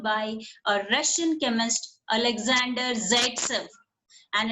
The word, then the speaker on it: Zaitsev: that was observed by a Russian chemist Alexander Zaitsev, and it's pronounced as Zaitsev, who in 1875 formulated a rule.